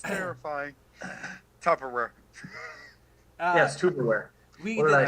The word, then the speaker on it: Tupperware: Geekus apparently had this Tupperware. It's pronounced Tupperware. Tupperware. Yeah. What you put your kind crap of dinner hell at. do you live in that it's pronounced tuberware?